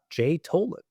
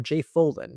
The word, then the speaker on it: Tholen: He actually says you can say his name however you want. Really, that is wonderful because I have tried to pronounce it in the way he has in interviews, and I cannot do it. It's Jay Tholen for me, and I won't go back.